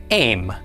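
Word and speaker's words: אֵם: This one is spelled aleph mem, with a tzera under the aleph. This word is pronounced aim.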